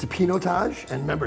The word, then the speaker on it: Pinotage: And it's a Pinotage. And remember, it's not Pinot Taj, it's Pinot Taj.